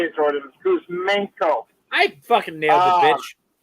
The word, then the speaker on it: Kuzmenko: Kuzmenko.